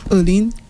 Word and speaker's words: Earleen: Did I pronounce it wrong a while ago? Earleen.